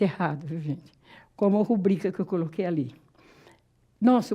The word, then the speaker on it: rubrica: Rubrica. É rubrica, sílaba tônica é o bri.